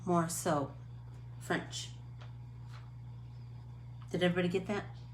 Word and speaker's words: Morisot: e m o r i s o t more so french did everybody get that um so now